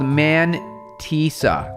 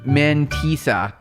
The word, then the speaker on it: mantissa: So pronounce mantissa. The A is not an E. It sounds an A.